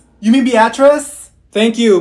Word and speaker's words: Beatrice: Avaya here if your name is Olivia it's pronounced Olivia that's like the easiest name in the world it's beet rice here did she say you mean Beatrice thank you Mikhail ma'am it's Michael okay what